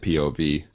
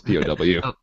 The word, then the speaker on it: POW: funny that I've noticed sometimes you pronounce W's SVS but you actually just said POV and it's pow my my native tongue